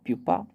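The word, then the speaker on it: pupa: पूपा, पूपा प्यूपा, ये इसकी pronunciation होती है।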